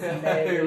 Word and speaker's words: Navig: It's pronounced Navig, right, yeah.